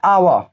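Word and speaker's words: hour: तो देख गाय बाबू, इसको हम पढ़ते हैं ना आवा, तो इसको भी आवा ही पढ़ेंगे, इन्हें कि हावर्ड हावर्ड नहीं पढ़ेंगे, ठीक है।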